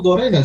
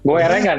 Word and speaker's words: Goerengan: Sebenarnya goerengan atau gorengan sih? Bilang goerengan dong.